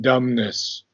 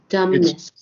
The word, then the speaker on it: dumbness: um by the way the be is not pronounced in dumbness okay dumbness dumbness yeah m and and